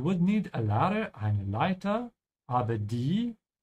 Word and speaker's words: Leiter: Be careful with the pronunciation of T and D. They're quite close in terms of mouth position, yeah? Because leider means unfortunately, yeah? It's very important to say leiter, leiter.